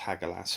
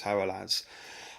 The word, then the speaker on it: Hagalaz: And if you reference the runes, really, the first stage of destruction is represented by Haralaz, okay, sometimes pronounced Hagalaz, but true pronunciation is Haralaz.